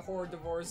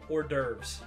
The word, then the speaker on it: hors d'oeuvres: Season the horror divorce at your next masked ball. I'm sorry, what the fuck did you just say? How do you say that? Hors d'oeuvres.